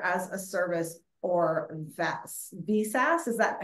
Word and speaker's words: VSAS: VSAS, is that how you say it, Jim?